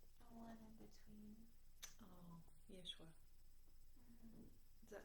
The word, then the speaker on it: Yeshua: Oh, Yeshua.